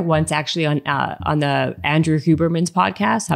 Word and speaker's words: Huberman: I did hear once actually on the Andrew Huberman's podcast. Huberman, am I pronouncing his name right?